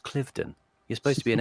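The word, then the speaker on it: Cliveden: He he he mentioned Clivedon, and I thought it's pronounced Clifton.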